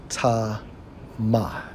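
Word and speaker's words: טָמֵא: For unclean, Strong's H2931 pronounced as ta ma, which means unclean, impure, ethically and religiously, ritually.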